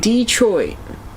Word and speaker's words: Detroit: insanity e IR says we pronounce Detroit Detroit with extra emphasis on the o Detroit is that right